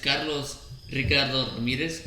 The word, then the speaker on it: Carlos Ricardo Ramirez: us all right well my name is carlos ricardo ramirez i have to say oh i'm sorry i i said it no you said it i said correct all right so i have to say it like that because my mom get upset um i go by